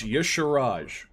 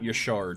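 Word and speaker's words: Y'Shaarj: I recorded that a long time ago, and someone called me out for pronouncing Yasharaj wrong. The merciless. It's Yasharaj, not Yasharj.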